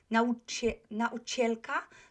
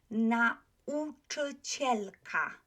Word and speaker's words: nauczycielka: It's not or nauczycielka, no, or nau. Nau, nau. So I need to pronounce the a and then I go to u. So nauczycielka, nauczycielka.